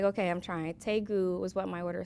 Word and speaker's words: Daegu: first base was in daegu south korea tegu tegu if you've been there you know how to pronounce it and so see yeah they're like is they good i'm like okay i'm trying taegu was what my order